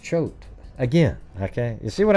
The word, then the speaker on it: Choate: Great, it's pronounced Choate.